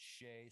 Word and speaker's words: Shay: And actually, I said her name wrong. It's Shay.